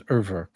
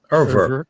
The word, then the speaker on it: Urwerk: I would get to Urwerk before I got this.